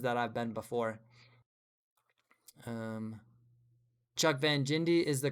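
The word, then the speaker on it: Jindabyne: Um, Chuck Van Jindy is the correct way to say it.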